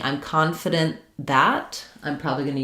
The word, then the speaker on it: confident: So for confidant versus confident, the difference here is that in confident, we stress the con syllable. In confidant, we stress the dant syllable.